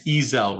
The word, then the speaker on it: Ezell: And it's Ezel, right? Yes, Your Honor. How's it spelled? Ezell. It's spelled the way it sounds.